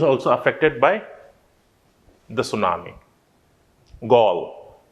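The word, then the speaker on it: Galle: other day when i was telling you the pronunciation right this is one of the place which was also affected by the tsunami gall it's in sri lanka okay so those are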